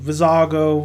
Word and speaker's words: Vizago: fat alien dude and we also have vizago vizago within that's how you say his name so